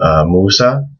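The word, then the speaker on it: موسى: names, like the name Musa. Musa means Moses. And you can see again here, there's no regular alif, there's the alif maqsura. There's no different pronunciation, it's just pronounced like a normal alif.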